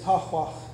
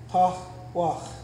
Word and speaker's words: tahwah: The first one up here, the first word up here is tahwah. Tahwah. The X has an ah sound.